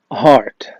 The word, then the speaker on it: heart: اليسار وهي عضو من أعضاء جسم الإنسان وهي heart heart مع إن في EA لكن بنطقها heart.